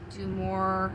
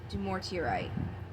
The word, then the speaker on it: Dumortierite: Forgive me if I mispronounce this card, but I believe it's pronounced Dumortierite. Dumortierite.